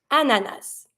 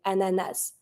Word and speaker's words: ananas: you're from in friends sometimes people going to say Anana and are not going to be pronouncing the final s and some people will and they're going to say ananas I'm on the S team I'm saying ananas to say pineapple but